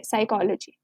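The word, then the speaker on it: psychology: एस है starting में, इसमें भी पी की साउंड नहीं है, पी इज साइलेंट, सिर्फ एस की साउंड है, साइकोलॉजी।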